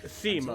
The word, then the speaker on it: Simon: Pronounced Simone.